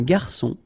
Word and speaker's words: garçon: Remember when we get this cédille beneath the C, it will give you the pronunciation S of C. So instead of K, as it should be with O, okay?